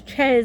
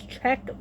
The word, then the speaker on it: Czech: It's not pronounced as Chez, it's pronounced as Czech origin.